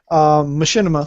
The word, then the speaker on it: Machinima: Machinima, thank you for reminding me how to pronounce that, because every time I see it, I want to go Maki for some reason. Because it's like Machiavelli, the prince.